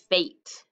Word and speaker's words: fate: does it say fat now if i add this e what does it say now the e jumps over the a the t and tells the a to say its name so it says fate very good let's try